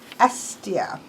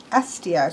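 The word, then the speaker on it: Hestia: And this is Estia. Estia. So a lot of times the H does not get pronounced, it seems.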